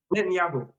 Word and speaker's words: Netanyahu: Mom, but if you want to know how to pronounce it, it's like a net, and then it's Yahoo, like the website. Netanyahu.